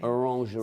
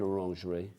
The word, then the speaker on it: orangerie: orange orangery orangery orangery orangerie that's how you say it I I don't know whether you say it that way I'm assuming you do sounds good to me